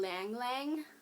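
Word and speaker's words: ylang-ylang: it's lavender chamomile and Lang Lang it's spelled with a Y um it's a weird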